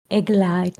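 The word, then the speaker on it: עגל: The same letters in a different pronunciation is eggl means hayer or baby cow.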